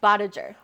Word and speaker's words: Bodager: Tell me your last name cuz I feel like I just butchered it. Bodager. Badger.